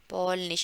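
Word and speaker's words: Polnisch: से हा, पॉल निश, इसको हमेशा ऐसे बोलते हैं एस से हा, एस से हा, आप बार बार ये बोलिए आपको याद हो जाएगा, एस से हा, ठीक है, एस से हा। और आवाज कैसे आती है, श, पॉलनिश, पॉलनिश, ठीक है, पॉलनिश।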